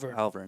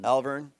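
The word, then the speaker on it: Alvirne: Elvern. Alvern. Yep. E is silent.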